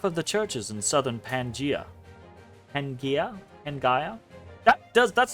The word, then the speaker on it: Pangaea: I always thought that was a difference in, like, British pronunciation and American pronunciations. But it's Pangaea in both.